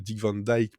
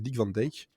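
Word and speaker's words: Dick Van Dyke: qui est enfin vrai je sais qu' s'appelle Dick Van Dijk pour les Américains parce que c'est comme ça qu'il prononce mais si on le prononce à la néerlandaise c'est Dick Van Dak donc c'est voilà c'est moins sexy mais c'est plus accurate.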